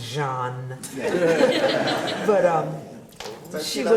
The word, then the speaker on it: Jean: sister taught French, and she said it's pronounced Jean.